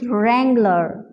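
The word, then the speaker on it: wrangler: रैंगलर इस तरह से ये रंग है ब्लू यहां हमारे पास साउंड कोई प्रोड्यूस नहीं कर रहा है ये साइलेंट है सो वे कैन say date way can pronounce IT like this रैंगलर रैंगलर ठीक है हमारे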